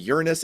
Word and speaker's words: Uranus: moons we found new moons this year around Uranus and Neptune and yes for our younger listeners that is the correct pronunciation of the planet Uranus we found three